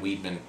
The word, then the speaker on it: Weidman: Weidman um we've got is it why better weetman have I been saying it wrong I think it's widely Bruce Buffer says Weidman okay well then if buffer says why I've been done it's Weidman okay uh might argue